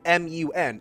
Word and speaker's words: Mun: Otherwise, it's just M-U-N, or mun, which is why people call it the mun.